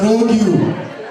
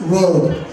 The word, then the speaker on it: rogue: you know that your friend Tony is a rogue you? I said, rogue you? She said, yes, he's a rogue you. I said, please, that word is pronounced rogue.